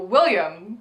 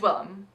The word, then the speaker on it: Willam: Max Muchnick is like, oh, William. Yeah. It's Willam.